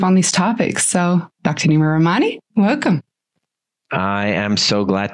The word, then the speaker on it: Nima Rahmany: Nima Rahmany. I hope I'm pronouncing your name correctly.